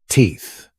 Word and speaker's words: teeth: Don't forget the sound. Put your tongue between your teeth. Like this. Teeth.